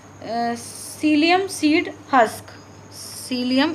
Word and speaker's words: psyllium: Cilium, इसमें P silent है, PSYLLIUM, cilium seed husk.